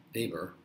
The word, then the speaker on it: Weber: And that begins with the 1830s when Weber, or as it's sometimes pronounced, Weber, discovered a basic law that translates your perceptions of something like weight from the physical stimulus.